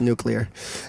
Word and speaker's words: nuclear: of uh slushy and I'm sorry I don't care what the President says it's pronounced nuclear um and then this